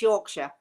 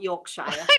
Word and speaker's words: Yorkshire: stayed up to watch this show and it's yorkshire not yorkshire i knew i was gonna do it the